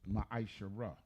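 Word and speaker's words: ma'aser: It means 10th in the Hebrew and is pronounced maishara. 10% of every penny of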